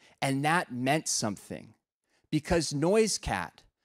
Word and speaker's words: NoiseCat: that meant something because noise cat or noisekit as the name was originally pronounced before the missionaries came